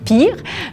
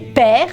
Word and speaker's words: Peer: Alors, on prononce père comme ça s'écrit, et non pas comme on pense qu'on le dirait en anglais, pire, mais père.